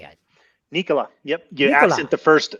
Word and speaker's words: Nikola: nicola or nicola how do you say it nikola yep you absent the first letter he was